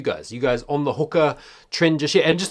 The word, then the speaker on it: Hoka: clear on the pronunciation hookah is the correct pronunciation because it's actually a mai words even though it wasn't founded by Mai people the word is Hoka onon which means to fly right so the big